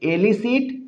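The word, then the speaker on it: elicit: एलिसिट एलिसिट इन दोनों का भी प्रोनाउंसिएशन थोड़ा सा अलग-अलग है। इसे पढ़ेंगे एलिसिट। इसे पढ़ेंगे इलिसिट। एलिसिट इलिसिट एलिसिट means क्या हो जाएगा?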